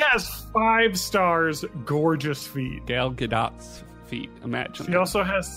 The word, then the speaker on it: Gadot: that's pretty big EP isn't it actually pronounced Gadot it's I don't know that's the close I mean she's like Israeli right so it's there's like subtlety to the pronunciation that I'm just never going to pick up on but it's not gdau I know that much there's a lot of